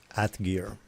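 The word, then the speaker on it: Atgeir: At gear.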